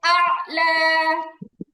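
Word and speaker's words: الأعلى: আলা সুবহানা রাব্বিয়াল আলা আলা প্রথমে হামজা তারপরে আইন হামজা আইন জবর আ আপনাদেরকে বোঝাচ্ছি উচ্চারণ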